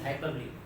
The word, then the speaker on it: hyperbole: pronunciation is hyperbole. But if we read it as hyperbole, hyper होके बोल, बढ़ा